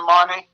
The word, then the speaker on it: Tzimani: know I like to explain it so um zamani it's pronounced as zmani it means the number two in a native